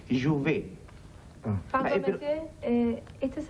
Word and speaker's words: Jouvet: Perdón, es Jouvet. con T al final, T que no se pronuncia en francés. Jouvet.